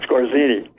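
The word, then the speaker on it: Skorzeny: He helped to do a lot of Otto Scorzeni. Yeah, Scorzini. Okay, I'm not pronouncing right. That's right. Scorzini.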